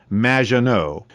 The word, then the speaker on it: Maginot: have mispronounced my name it's m which rhymes with badge uh as in Du and no as in more than you MAA no anyway thank you for